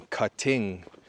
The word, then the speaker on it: cutting: Move the stress to the first syllable. Cut. Not cutting, but cutting.